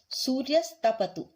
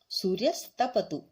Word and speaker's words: सूर्यस्तपतु: सूर्यस्तपतु, सूर्यस्तपतु। इसमें दो शब्द हैं, सूर्य प्लस तपतु। जब हम इसे जोड़ते हैं तो विसर्ग का स हो जाता है, तो सूर्यस्तपतु।